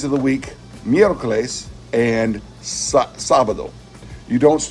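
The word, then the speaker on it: sábado: and sabado you don't it's not Sabato it's sabado so there's an accent mark on the first syllable of that three-syllable word so that you know to pronounce it sabado and not sabado there's an accent mark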